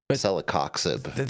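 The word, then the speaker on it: celecoxib: I just wish that they wouldn't have included it with uh celoxib. That's how you pronounce it.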